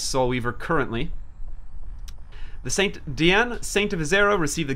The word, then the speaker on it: Diene: And yes, I had to look up how to pronounce Diene. And it's Diene Saint of Azera. Diene Saint of Azera. Diene Saint of Azera.